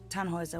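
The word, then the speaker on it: Tannhäuser: what's your name tanhauser we'd pronounce it tan hoiser with an umlaut german roots yes my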